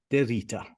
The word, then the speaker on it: DeRita: Today, my guest, please welcome Gabe DeRita. Did I pronounce the surname correctly?